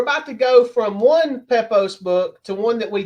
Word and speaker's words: Pepose: Pepose.